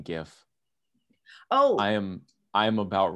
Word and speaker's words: GIF: the years he goes i think it's pronounced jeff no no it's not it's pronounced gif that could have been